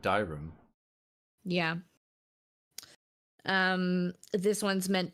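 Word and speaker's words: Dyrim: there's another one called dioram or dirim d-y-r-i-m and it's a musical Bell wait how do you spell it again d-y-r-i-m I would pronounce it dirham yeah um this one's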